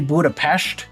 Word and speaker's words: Budapest: And before anybody says it's actually Budapestt, that's how they pronounce it in Hungary.